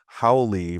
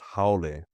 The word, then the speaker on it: haole: If there's not that Maui sounding pronunciation, I teach my students, I don't want to hear you pronouncing it, an A as an E. Yeah, so like when they say haole versus haole or I'm like, are you hungry?